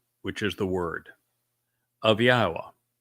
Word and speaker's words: Yahowah: Then the debar which is the word of Yahwa, not of Hashem, not of Jashi, not of Adoni, of Yahwa. That is Yahweh's name pronounced as instructed in his Torah regarding his haya existence.